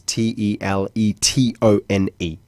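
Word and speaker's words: Teletón: But it's spelled the Spanish way, which is Telethon, which is Teletonne.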